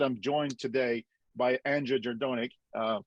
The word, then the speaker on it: Jerdonek: that being said i'm joined today by andrea gerdonic uh correct me if i mispronounced your name hailed it nailed it awesome